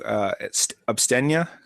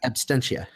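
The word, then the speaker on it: Absentia: We're going to do Abstenia. Is that how you say it? Abstentia.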